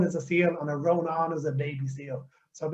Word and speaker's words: Rónán: pleasure to be here my first name is pronounced ronan and the pronunciation guide i normally give people is that it rhymes with turn your phone on so that will hopefully